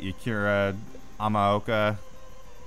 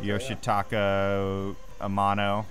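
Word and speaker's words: Yoshitaka Amano: of the different uh art from was it yakira amoka am I pronouncing that right yeah yoshito Amano that's what I was going that's what it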